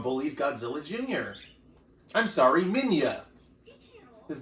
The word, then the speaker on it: Minya: I'm sorry, Minya. His name is Minya. His name is Minya. Minya, but it's spelled Manila.